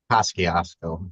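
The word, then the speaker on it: Kosciusko: So okay, Cusco County, do you know how to pronounce that? Kosciuszko, that's how they say it.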